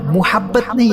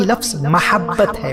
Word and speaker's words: محبت: مجھے آپ سے بہت محبت ہے، محبت نہیں، لفظ محبت ہے، محبت میم کی زبر کے ساتھ۔ محبت کسی اور سے